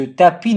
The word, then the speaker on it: tapis: Ce tapis n'est pas long. Tapis, silent S.